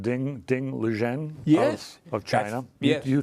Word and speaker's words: Ding Liren: Ding Liren. Yes. Of China. Yes. You told me the correct pronunciation. No, bravo. Ding Liren, Chinese Grandmaster Ding Liren, who happens to be 30 years old, was his opponent.